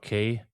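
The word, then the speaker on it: Cay: We're doing uh Disney's Private Islands Lookout K. Castaway. Is it K or K? C A Y K. I I've heard it pronounced both ways.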